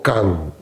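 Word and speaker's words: 観: Vipassana se traduce como kan, y se escribe de otra forma.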